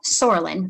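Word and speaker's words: psoralen: of light combined with something called sorelin the silent p hence the name puva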